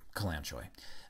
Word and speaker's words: Kalanchoe: This next herb is pronounced by Manuel as Kalanchoe. I've heard it pronounced many different ways. Manuel calls it Kalanchoe.